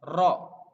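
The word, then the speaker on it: ر: Jadi kesulitan untuk mengucapkan lafaz ro. Jadi sebisa mungkin harus jelas. Ro dan harus bisa untuk yang cadel. Ro, ro. Jadi lidahnya ada di langit-langit, diucapkan sejelas mungkin.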